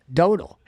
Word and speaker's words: Dotel: How do you say the last name? Dodel.